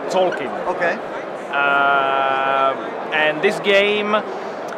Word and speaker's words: Tzolk'in: start with and I don't know if I'm pronouncing this correctly Zoltan the mayan calendar game even close to be honest i don't know how it should be pronounced we SH X says Tolkien okay and this game it's actually we saw